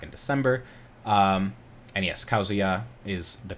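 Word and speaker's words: Kazuya: other platforms back in december um and yes causia is the correct pronunciation of the new character the new fighter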